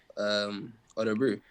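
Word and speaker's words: Örebro: Yes, just Orebro. Sounds like the drink. That I am brew.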